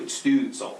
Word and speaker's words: Stützle: Two dots, you pronounce the U as a U. Stützle, like Stützle.